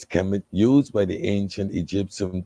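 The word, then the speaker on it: Kemet: it's called Trickum ship kmt conventionally pronounced as chem used by the ancient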